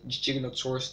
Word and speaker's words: Giganotosaurus: Yes, actually I said Giganotosaurus, that's the correct way to pronounce it.